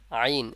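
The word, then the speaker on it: ع: থেকে উচ্চারণ হবে এটা ওই এই যে এটা আইন এই আইনটা কোথা থেকে উচ্চারণ হবে এই হরফটির নাম হলো আইন আর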